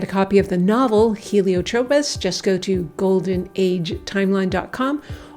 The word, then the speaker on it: Helio Tropez: So it's Helio as in another name for the sun, and Tropez as in the city of Saint Tropez in France.